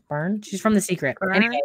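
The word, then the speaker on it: Byrne: and it's by rhonda i always say our last name wrong byron byron bern she's from the secret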